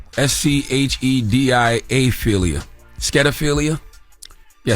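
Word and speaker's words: schediaphilia: if it's toonophilia or this word I can't pronounce s-c-h-e-d-i-a philia scadophilia yeah skedophilia is when you are attracted to cartoon characters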